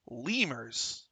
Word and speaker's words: Lemures: Now it's spelled Lemures. I call them lemures, like kind of French lemure, It's But Jeremy called them lemurs. Lemurs. That is what they're called.